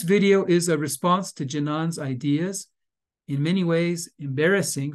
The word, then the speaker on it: Jinan: His name is pronounced Jinan.